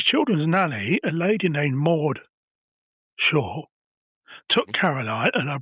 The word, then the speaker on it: Maud: Not Maud Shaw, but Maud. Yeah, it rhymes.